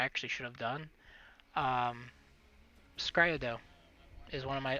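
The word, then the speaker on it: s-CRY-ed: that's what i actually should have done um skryo though is one of my all-time favorites that's an anime yep it's grayadol that's the pronunciation it's a scride so s dash c-r-i c-r-y dash e-d let's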